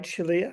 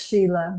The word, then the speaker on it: Shalia: Is that right, Shalia? Is that correctly pronounced? Actually, it's Sheila. My mother got creative in spelling my name, so Sheila.